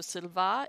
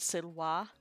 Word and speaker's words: silva: sounds right Silva well so Silva is how we would say it now but Sidel wha it's the classical pronunciation for forest say why multiple forests